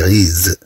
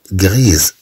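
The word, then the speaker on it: grises: غريز رماديات، هذاك الشيء قلنا هنا غريز نطقات هاد إس وتنطقات على شكل زاد لأن أتت بين دوفويال. في المذكر نقول غري سنحذف او اس، سنحذف او اس في المذكر سنقول غري، مادام ان هاد اس ستاتي هي الاخيره لن ننطقها في هذه الحاله في حاله المذكر.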